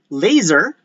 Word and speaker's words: laser: Because if you can see, the words laser, all right, is not actually spelled with a Z. Rather, we spell laser as a word that contains an S.